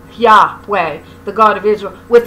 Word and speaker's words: Yahweh: Israelite traditions identified Yahweh by scholarly convention pronounced Yahweh, the God of Israel, with the creator of the world, who had been known and worshipped from the beginning of time.